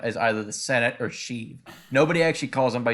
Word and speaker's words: Sheev: actual real first name, Sheev. And Sheev? Yeah, Sheev. Yeah, but it's spelled like Shiv. Yeah, like a prison shiv.